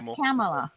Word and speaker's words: Kamala: of different part like I'm from the Midwest so I want to say that K like a hard K where you're making it more like a c sound like Camala I I want to say that hard K like Camala yeah when we first